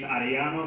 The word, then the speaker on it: Ariano: My name is Ariano. Can you guys roll your R's here?